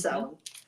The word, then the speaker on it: Samhain: It's Samhain.